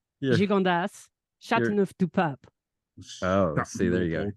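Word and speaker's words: Châteauneuf-du-Pape: Joe would like to try out his French pronunciation. Al: No. Skip this part. No, no. Joe: St. Carine. Chateau. Chateau de Papa. Andi: Sancerre. Gigondas. Chateauneuf du Pape.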